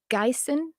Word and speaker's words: Gison: And then there's, the next 2 behind is, Lord Gyson. It's spelled Gison. And it was funny because I kept arguing what I didn't wanna write that word.